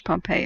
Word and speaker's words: Pompeii: pronounced that and here's pompeii of course now uh at the end of the word has an ae which is a hard e sound in greek and the greeks colonized